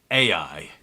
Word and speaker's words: Ai: it's a bit like using cheat codes in a video game, isn't it? Yes, it is, actually. It's exactly like that. So the next big walled city that they're after is Ai, or, Yeah.